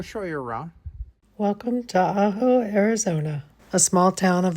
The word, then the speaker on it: Ajo: I am going to give you a tour of the city of Aaho is how you pronounce it and it's a Spanish term that means garlic.